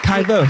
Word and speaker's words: Vöss: Vöss. You have to say it like that.